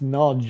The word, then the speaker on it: Nagy: So, the way they pronounce that word Nagy, it's Nodge, isn't it? It's a strange way of saying it.